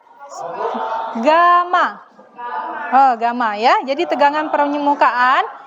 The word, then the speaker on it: gamma: ini dinyatakan dalam nih seperti huruf y ya Tapi bacanya adalah Gamma Gamma Gama ya jadi tegangan